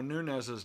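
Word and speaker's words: Núñez: Luke says, I hope I don't have to pronounce Eduardo Nunez's name.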